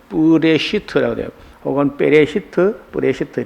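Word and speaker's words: בראשית: 이태초라는 말이 여기요 앞에는요 글자는 쁘라고 발음을 하고요 이쪽에는 이어붙여 읽으면 뿌레 시트라고 합니다 이걸라는 단어가 전치사에 해당되는데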